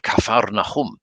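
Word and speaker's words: Kfar Nahum: most wonderful guide uh when you talk about pronunciation we went to capernaum which course he called kaffar nahum which sounds it sounded amazing and i've always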